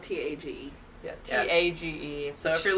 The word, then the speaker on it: Tage: 2 is spelled T-A-G-E.